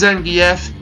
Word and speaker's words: Zangief: Named after real-life wrestler Victor Zangief, sometimes pronounced Zangief.